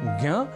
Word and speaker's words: ज्ञ: उच्चारण की दृष्टि से विशेष संयुक्ताक्षर है ज्ञ जो बना है ज और ञ के योग से अब क्रम है संयुक्ताक्षर